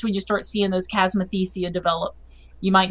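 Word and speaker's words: chasmothecia: So, does tilling the soil have any positive effects in terms of potentially killing the chasmathesia?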